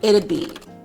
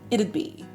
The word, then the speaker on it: it'd be: But listen to the pronunciation. It' be. It' be. It's a little hard to say. It's kind of a tongue twister.